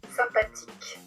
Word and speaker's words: sympathique: Sympathique. Et ici YM sympathique parce que devant un P, le N devient M. Et donc vous avez la prononciation 1 aussi dans sympathique.